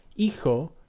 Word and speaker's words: hijo: In Spanish and Portuguese, H, pronounced H in Spanish, or aga in Portuguese, is a silent letter with no pronunciation, as in hijo, spelled H-I-J-O, meaning son, and húngaro, spelled H-U-acute-N-G-A-R-O, meaning Hungarian.